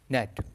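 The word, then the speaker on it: gnat: case में नहीं है चच letters is silent in the word नेट तो यहां पे क्या साइलेंट है जी आपका साइलेंट है नेट में ठीक है तो ऑप्शन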